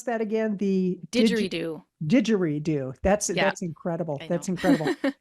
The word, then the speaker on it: didgeridoo: How somebody selects an instrument like the accordion and now how do you pronounce that again? The Didgeridoo.